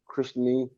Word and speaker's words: Krishna: Krishna, Sanskrit pronunciation Krishni.